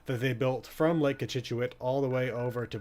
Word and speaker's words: Cochituate: This is Lake Cochituate, which I believe is the proper pronunciation of it. Cochituate. Cochituate.